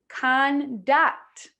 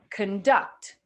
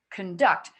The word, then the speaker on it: conduct: So I'm not saying conduct. I'm not saying that. I'm saying conduct, conduct. So this gets reduced, and this is what it sounds like. Conduct, con. Very little, if at all, vowel sound there. So you could say it's kin or kin. Okay, so it's not ka, because if I make that clear, then it's going to sound like it's stressed.